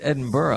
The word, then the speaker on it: Edinburgh: around saying Edinburgh, and he goes, "Dude, it's Edinburgh."